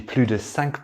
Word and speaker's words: plus: For these, we combine plus with de and we don't pronounce the S. T'as mangé plus de 5 parts de pizza.